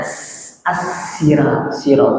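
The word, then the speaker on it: صراط: Ada juga yang membaca dengan apa? As-sirat dengan sin kecil ya.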